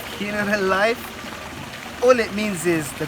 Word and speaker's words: Generalife: So we're currently in a place called Generalife is a spelling, but the Spanish pronunciation is something along the lines of Generalife.